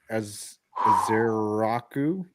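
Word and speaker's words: Ezeiruaku: Aer Azeraku.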